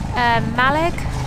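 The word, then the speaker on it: Mallaig: Malig. My leg! Nice Scottish pronunciation from our Cush there.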